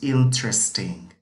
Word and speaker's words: interesting: Number ten is interesting, interesting. Esta parte de aquí se pronuncia como si estuviéramos diciendo tres en español. In, esta parte, y aquí esta parte, tres.